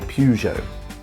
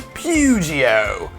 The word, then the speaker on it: Peugeot: the pupil 208 definitely i could say peugeot i had a um i had an art master once who would pronounce things particularly amusingly so it wouldn't be peugeot it'd be pugio and uh ford of